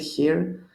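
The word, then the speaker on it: χι: And here, something confusing. This one is not X or X. This one is he. These are he, your H, we could say. So he sounds always like an H in the beginning of a word, like hero.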